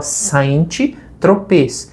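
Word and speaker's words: Saint-Tropez: Tempos depois que eu soube que o nome da calça se chamava Saint Tropê. E é em francês, então a pronúncia Centrope, né? E nós adaptamos para calça Centrop até nas músicas também, né, gente?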